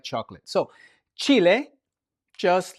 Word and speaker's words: chile: And we take a look at the word chile. Chile. Chili pepper. And now remember we said that the H is silent when it's only the H.